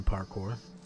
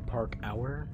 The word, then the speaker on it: parkour: teenager wanted to do parkour okay i have all i need let's head back to the ship boy or park hour as people like to pronounce it because they thought they were funny i think i'm funny